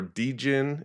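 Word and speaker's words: djinn: And the jinn, often al-jinn or d-jinn, it's spelled D-J-I-N-N sometimes.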